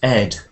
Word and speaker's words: instead: t e a d not Eid it's Ed like head in instead yeah do something instead